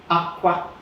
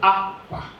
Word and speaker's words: akwa: The classical example is a bisyllable word like aqua. Now there are, with the two syllables of it, you can have four variations. Either high, aqua, or high-low, aqua, or low-high, aqua, or low-low, aqua. Now each one has a meaning of its own.